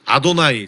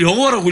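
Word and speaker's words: יהוה: 그래서 이것을 읽을 때는 아도나이, 즉 주님 이렇게 읽게 돼 있거든요. 네. 그래서 실제로 이걸 여호와라고 읽으면 안 돼요.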